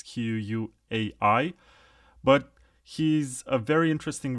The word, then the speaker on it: Quai: K, the CTO of a project which is called Quai or Quai, whatever you want to pronounce it. It's Quai.